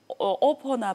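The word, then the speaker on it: OPPO: 중국에도 계속 그냥 영어로 비보하고 오포라고 씁니다.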